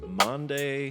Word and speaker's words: Maundy: But today is Maundy Thursday. Pronounce that again. Maundy, not Monday. Not Monday. Thursday.